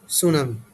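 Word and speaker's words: tsunami: এটাকে তোমরা কি উচ্চারণ করো? অবশ্যই এটা হবে সুনামি। টিটা কি থাকবে এখানে? সাইলেন্ট থাকবে।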